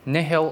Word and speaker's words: nihil: Basically, nihil, it actually took me a long time to figure out the pronunciation, but nihil or nihil is both acceptable, and nihil came from the Latin word.